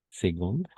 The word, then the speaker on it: seconde: Quelques, y aquí una cosa más, no es second ni seconde, vamos a hacer con la G, ¿d'accord?